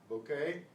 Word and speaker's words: bouquet: Bouquet in English. This sounds like our O. Bouquet. Now, this syllable pronounced K, but the T is silent.